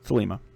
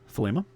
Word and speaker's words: Thelema: It gets mispronounced a lot too. Thelema is Thelema. Man, I've heard it pronounced a whole bunch of different ways, but pronunciation I usually go with is Thelema.